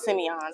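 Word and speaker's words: Sémillon: Semillon, thank you.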